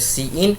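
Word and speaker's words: cin: हम लोग कहते हैं सी इन अब इसके प्रोनाउंस की बात करें तो हम लोग इसे कहते हैं सी इन और इसको हम लोग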